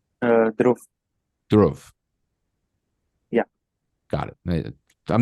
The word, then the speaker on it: Dhruv: say, "Hey, by the way, how do I pronounce your name?" Dhruv.